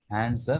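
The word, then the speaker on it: answer: होता एंड स्वर होता लेकिन यहां पर डब्लू जो है साइलेंट है हम आंसर नहीं भूलते आंसर कहते हैं आंसर तो यहां पर डब्लू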